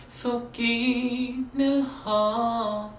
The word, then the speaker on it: 속이: 억지로 먹고 먹어도 속기는 허전해. 속이 이렇게 발음되는 게 아니라 속기 이렇게 기억이 중철되는 중철 발음법을 썼습니다.